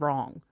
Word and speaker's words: wrong: You know, we don't actually pronounce the, you know, W and wrong.